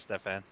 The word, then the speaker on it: Stefan: I said Steven instead of Stefan.